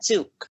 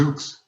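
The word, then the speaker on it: Zoox: safety innovation officer at zuk an autonomous vehicle and on-demand transportation service start-up company did i pronounce that correctly yeah it's actually called the zooks zooks so i want to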